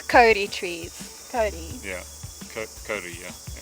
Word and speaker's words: kauri: And also it's not pronounced Kauri like we've been saying. It's Kauri trees.